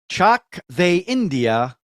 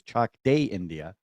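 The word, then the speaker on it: Chak De India: the correct print pronunciation I thought it was chalk day India he told me it was Chuck they India or let's go India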